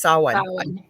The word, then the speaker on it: Samhain: I probably don't say that right. Samhain. Actually, it's Samhain. I completely blanked until I just went, no, that's not how you say it.